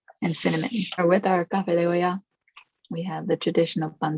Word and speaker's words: café de olla: How do you pronounce it? Café de olla.